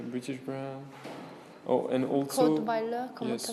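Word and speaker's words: Cottweiler: Codewiler, comment ça s'écrit? C'est C-O-T-T. Bonsoir. W-E-I-L-E-R. Codewiler.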